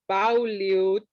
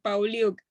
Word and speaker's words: Pauliuc: es una C de casa, Pauliuk. Pauliuk. Ok, yo incluso pensé que podía ser croata, porque como tengo familia croata, yo dije Pauliuch. No, Pauliuk.